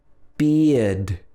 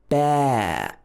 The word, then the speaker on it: bear: Then we have air, air, bear. So this is not pronounced like bear, like in an American accent. It doesn't have the R sound in it. It's bear, bear.